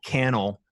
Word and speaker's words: Cannell: and n e ll kennel rhymes with channel I know I would never forget that as long as I know you have Cannell remind or rhymes the channel that's great and yeah